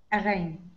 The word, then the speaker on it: again: Rain, train, snow, pain, change, again. Mm-hmm. And that last one is pronounced totally like an E.